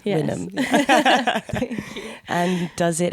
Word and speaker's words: Wynnm: There's been a lot of the mispronunciation of my name in my life, but we set the record straight here. Yes. Wynnm.